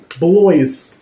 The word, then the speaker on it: Bloys: wrong am I racist it's boys with an L in it bloys boys okay okay let's